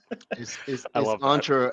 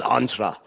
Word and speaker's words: Entra: Sentra and I go this is how you pronounce it entra as in as in Commandos and I have a picture of Predator with on SW saying is entra entra yeah a good commercial yeah there you go